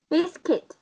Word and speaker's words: biscuit: Biscuit. Từ này nhá. Từ này hơi khó đọc đúng không?